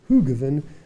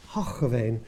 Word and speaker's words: Hoogeveen: Dutch producers will laugh, because us Australians would always say Hoogeveen, but I've been told about 1 million times that it's Hoogeveen.